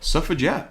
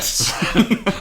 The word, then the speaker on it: Suffragette: Suffragette. Carey Mulligan, Meryl Streep for... I love how you a say minute. jet, and I say jet as if it's courgette. Suffragettes. I say it like courgette.